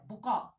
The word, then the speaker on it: بکا: کرنا بجھا دینا، بکا، تلفظ کا دھیان رکھیے، یہ بکا نہیں ہے، بکا نہیں ہے، بکا، چیخ و پکار، گریہ